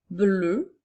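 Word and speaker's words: bleue: nous avions le mot bleu au féminin c'est pour ça que la dernière lettre la lettre E est une lettre muette alors le mot bleu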